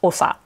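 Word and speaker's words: 長: repeat it at so this first kanji it's pronounced so many different ways you may recognize it it's a beginning level kanji it's nagai but in this case it's pronounced ossa and it's for the chief or the head of a tribe or clan or village so at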